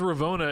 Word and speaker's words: Ravonna: your name I think I think it's pronounced raona and Loki when I saw when they were talking to her the other day but that also makes no sense to me because at least in English American English O N na a is pronounced Anna like Donna you don't say Dona Rona so I don't know